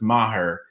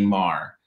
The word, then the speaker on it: Maher: Mr. Richards initially said my name was Maher, but it's actually Maher. That doesn't make sense, but that is how you say my name.